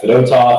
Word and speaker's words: Fedotov: Same thing with like a guy like Fedotov. You got to have the accent on the 2nd syllable, not the 1st syllable, so we're going with that until he tells us otherwise.